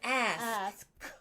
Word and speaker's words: ask: Like act. And it's ask.